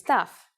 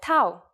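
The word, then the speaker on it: ταυ: can do with them our first letter this time is tough it's a consonant and its sound is you may have heard it called Tau which is its usual name in English I'm sure its uppercase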